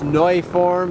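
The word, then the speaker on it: Neuform: Powering it up front is the what we would say is new form. It's Neu form is the proper pronunciation of it.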